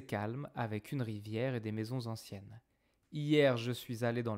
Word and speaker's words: maisons anciennes: C'est calme avec une rivière et des maisons anciennes. Maisons anciennes. It's a nice pronunciation. Non, liaison. Des maisons anciennes.